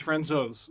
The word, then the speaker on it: Francouz: Pavel Francouz, which is the fourth pronunciation of his name. Yeah, because we said Francouz for like a week now. And I said Francouz before that. Apparently it's Francouz.